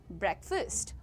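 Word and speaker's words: breakfast: इट इज़ ब्रेकफास्ट। Alright. Now से said first. The ए becomes अ इट इज नॉट फास्ट इट इज अ इट्स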